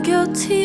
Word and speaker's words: guilty: Notice the T here is like a regular T. Guilty. Guilty. That's because it comes right after a consonant.